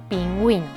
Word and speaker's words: pingüino: Pingüino. ¿Sí? Entonces, atención. Observamos que pingüino, la U sí se pronuncia y ponemos diéresis.